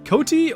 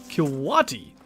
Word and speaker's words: coati: Do you say coati as like coatee or co-wa-tee? Second one is right, by the way.